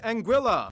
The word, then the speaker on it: Anguilla: havens first we have anguilla yeah that's how you pronounce it named after the spanish word for eel because the islands are